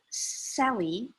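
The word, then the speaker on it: Selye: life it was published in 1956 but dr sally that's how we pronounce it talks about stress from physiological perspective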